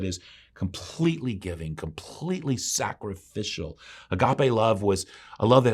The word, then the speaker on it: agape: The final word for love is most commonly pronounced agape.